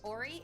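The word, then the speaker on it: Oree: Ori, it's spelled O-R-E-E.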